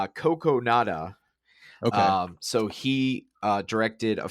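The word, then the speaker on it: Kogonada: Um and it is by the director, and I had to phonetically write out how to say his name, but Coco Nada.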